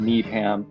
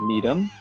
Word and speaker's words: Needham: To fix this situation is to basically take the less strong one and reduce it even more. So instead of Needham, to make it Needham, the difference between the